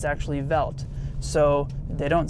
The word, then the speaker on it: Welt: BM v so BMW Welt you would say well tis world and it's not pronounced welt that's how we say it in the u.s. it's Jack it's actually veldt so they don't say